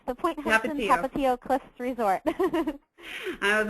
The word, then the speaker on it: Tapatio: Tapatio. It's the Point Hilton Tapatio Cliffs Resort.